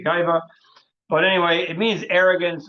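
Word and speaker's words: גאווה: So I say gaiva. I know in Ivrit you're supposed to say gava. I'm not so good at pronouncing Ivrit, so I just say gaiva.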